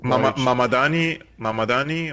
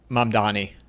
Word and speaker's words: Mamdani: I can never pronounce it, but I'm going to look it up while we're Mamadani or something. Yeah, it's Mamdani.